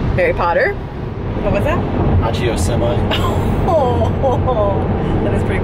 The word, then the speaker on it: Accio: Accio semi.